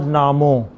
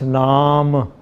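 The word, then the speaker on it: ਨਾਮੁ: It is not namo, it is naam.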